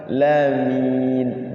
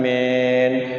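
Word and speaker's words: العالمين: semua alhamdulillahiabbil rabbil alamin Lamen tuh ya jadi enggak i jadi si bibirnya itu enggak ke belakang Lamin Min jadi dipaskan mi sama jangan men men at dimarahin ibu-ibu apa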